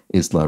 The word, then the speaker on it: isla: pronounced like uh well the S is pronounced Isla rather than Isla the S is not